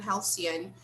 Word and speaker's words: halcyon: Here, I'm sharing the screen with the definition of halcyon. And here there is also the pronunciation, right? But you can always check the dictionary. The stress is on the first syllable, right? Halcyon, halcyon.